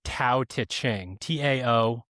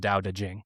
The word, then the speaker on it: Dao De Jing: So if you are trying to buy this or download it, it is phonetically Tao Te Ching, Taoteching, but it's pronounced Dao De Jing.